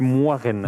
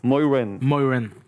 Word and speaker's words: Moiraine: Si je prononce à la française, c'est Moiraine. Moiraine. Et en anglais? Moiraine.